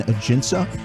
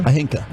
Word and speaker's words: Ajinca: You went Ajinca yesterday, didn't you? Ajinca. But the J was silent. And you thought the C was hard.